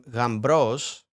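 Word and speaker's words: γαμπρός: And in modern spelling, it's now become Gambros, but it is pronounced like M MB, not B. So you you don't necessarily you wouldn't necessarily say gra without the M. That M is going to interject into it.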